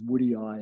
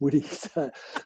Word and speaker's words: woodii: I was about a year into the book before I realised it was woodii and not just woody.